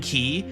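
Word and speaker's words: quay: that the word qu u a y is pronounced ki E for Golden Key. Everybody went to Golden Key, heard that dude say, "Welcome to Golden Key."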